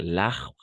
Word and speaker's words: arbre: Al plural, algunas incluso en singular, no se van a pronunciar l'arbre, por ejemplo, l'arbre, pas l'arbre, no va.